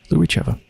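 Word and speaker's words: Lyuricheva: Oh, so I guess, yeah, Rycheva, that's just pronounced like it looks like, and then L-Y-U is Lou. Lou Rycheva.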